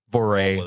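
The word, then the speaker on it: Voirrey: guess that's her name v o i r r e y I guess that's how you pronounce it whatever VOR is close enough I'm not going to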